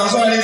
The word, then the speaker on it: Azuh: Actually, that's a full family name, but Amatus and Azuh decided to shorten it to Azuh.